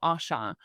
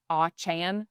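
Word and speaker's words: Auchan: Uh, is called Asha. Uh, it's spelled A U C Han. Achan, if I'm using a hard Americanized accent.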